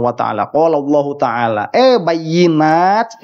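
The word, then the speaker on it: بينات: Telah berfirman Allah Subhanahu wa Ta'ala, qala Allah Ta'ala, bayyinat, dibacanya bayyinah. Itu sudah bukan Al-Quran.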